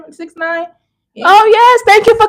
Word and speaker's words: 6ix9ine: 6ix9ine.